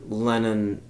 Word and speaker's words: Lennon: who shows back up Len lenon not like uh Russian lennin more like John lennin um that's how it's